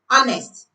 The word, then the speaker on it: honest: In honest the H is silence.